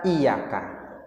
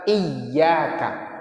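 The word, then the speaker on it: iyyaka: enggak dipakai orang jadi jangan pernah baca iyaka Enggak pakai tasdik itu artinya beda nah bacaan yang benarnya adalah iyaka pakai tasdik kalau hayyaka ayyaka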